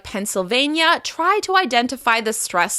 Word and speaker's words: Pennsylvania: Moving on, Pennsylvania. Pennsylvania. The stress will be on the third syllable. Pennsylvania. Pennsylvania. Pennsylvania. If you ever feel a little stressed when you see a long word like Pennsylvania, try to identify the stressed syllable.